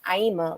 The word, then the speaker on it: Aima: the states and so i would always be like aima like drema and then i was